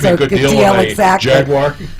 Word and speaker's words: Jaguar: Is it Jaguar? That's what they say on TV. Jaguar. I like it when it's pronounced like that.